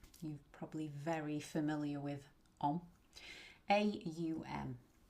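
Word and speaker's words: aum: A u m. You'll see it spelled om some places. This is a u m. When we chant it, we're going to pronounce the au m.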